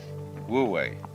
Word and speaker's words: Wu-Wei: And then with this character, this is pronounced, this one is Wu, and this one is Wei, Wu-Wei.